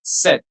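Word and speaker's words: cette: The third one again will be pronounced as set.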